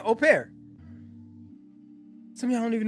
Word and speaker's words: au pair: So he's saying au pair.